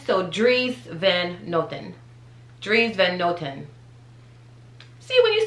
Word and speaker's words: Dries Van Noten: the time together but the proper pronunciation is dries van notten dreams van gnotten um that at the end that's really like a ten so dries then nothing dreams van noten see when you say